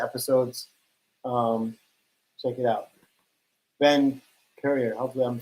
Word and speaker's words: Currier: Yeah, and you pronounced it right, Currier.